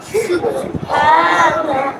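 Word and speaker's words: سُبْحَانَكَ: কন্ঠনের চা দিলের মধ্যং অংশ থেকে যে হা উচ্চারণ হবে সেটা সুব হা সুব হা নুন জবর না নুন জবর না সুবহানা সুবহানাকা কাফ জবর কাফ কাফ সুবহানাকা সুবহানাকা সুবহানাকা সুবহানাকা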